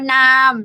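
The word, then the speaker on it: น้ำ: nickname exactly it's water it means water but only when you pronounce with the high tone now yeah it could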